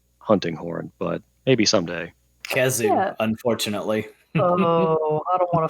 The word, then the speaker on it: Khezu: a penis into a monster and it's a Kezu, and there's no getting around it. I gotta look at this. Just a penis. How do you spell it? Kezu. No, it's Khezu.